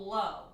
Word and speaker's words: Lo: The movie's called Low. But it's spelled L-O.